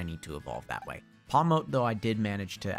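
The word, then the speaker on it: Pawmot: Palmote, though, I did manage to actually... I think it's supposed to be pronounced Palmet, like a Marmot.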